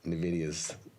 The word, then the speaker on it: NVIDIA: If you say the letter N instead of the sound N, makes you have NVIDIA's pronunciation.